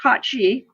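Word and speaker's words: Cait Sìth: the Koch G now it's got two different spellings one is one is Irish and one is Scottish but they're both pronounced cauchy and what it means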